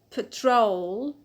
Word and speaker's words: patrol: is the noun patrol patrol so the stress is on the old because we have a diphthong o so we have used rule to be next noun is